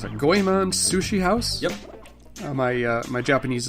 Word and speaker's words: Goemon: Goemon Sushi House? Yep. My Japanese is not very good. I apologize. Goemon Sushi House. That's Goyemon.